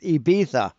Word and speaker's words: Ibiza: away, but this is the actual spot in Ibiza. No, it's pronounced Ibiza.